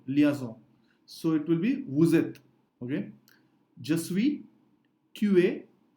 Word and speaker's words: vous êtes: liaison and we say vous êtes. Again, we don't say vous êtes because S is between two vowels after liaison, so it is vous êtes.